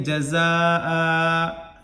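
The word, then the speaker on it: جَزَاءً: हमजा को 1 ज़बर दें और यहाँ अलिफ बढ़ा करके इसको साकिन दे देंगे, जज़ा ऐसे पढ़ दें, जज़ा।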